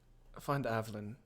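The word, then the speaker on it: Avlen: Spell it. A-V-E... A-V-L... Av... A-V-L-E-N. Len. Evelyn.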